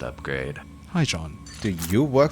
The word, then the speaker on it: Upgreid: Oh, hey, Oopgreed, pronounced upgrade.